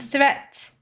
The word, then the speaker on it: threat: Watch out for meat and great and threat. They rhyme with neat, sweet, and straight and depth.